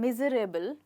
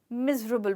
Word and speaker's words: miserable: Well, बहुत लोग इसको बोलते हैं miserable, पर मैं इसको miserable बोलती हूँ। जी, तो मैं इस वर्ड में ई को कभी प्रोनाउंस नहीं करती हूँ। तो हमारे पास बच गया मिजरेबल।